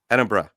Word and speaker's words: Edinburgh: while, and I made a lot of jaunts over to Edinburgh. But am I mispronouncing? I know some people say Edinburgh, That's Edinburgh. wrong. That's wrong as Right, well. Edinburgh. Edinburgh.